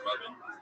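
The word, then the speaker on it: Ravin: It's pronounced Robin. Robin? But it's spelled R-A-V-I-N? Yeah. So it's spelled Raven. No, the A makes the same sound as the first syllable in amazing.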